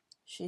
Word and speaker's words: chez: Chez soi is at home. Chez doesn't translate in English. You don't pronounce the Z at the end.